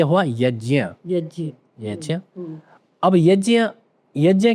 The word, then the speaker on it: यज्ञ: फिर ये बनता है ज्ञ तो ये हुआ यज्ञ यज्ञ यज्य अब यज्ञ यज्ञ क्या होता है